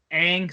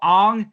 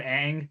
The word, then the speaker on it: Aang: that like that and the pronunciations of aang saka and they call him ong and soka like oh and um